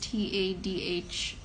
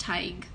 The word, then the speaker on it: Tadhg: name is actually pronounced Tadhg, and it's Gaelic. It's a Gaelic name, and it's actually pronounced Taeeg.